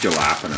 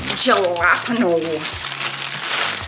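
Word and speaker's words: jalapeño: It's pronounced jalapeno, this thing. Jalapeno.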